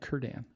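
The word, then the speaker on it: Círdan: So I was confused for a long time about how to pronounce the C's, but it's always a K. I don't know why they don't just use K's. Celebrimbor and Cirdan.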